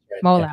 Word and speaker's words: Mowla: sure um and your last name is it pronounced Moola as well Moola okay mola so if you guys Google him